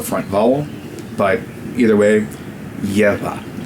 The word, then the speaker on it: geƀa: But either way, gebyā. That barred B is a bilabial voiced fricative, so it's a V sound, but if you're having trouble pronouncing the V sound, just say gebyā, and it's close enough.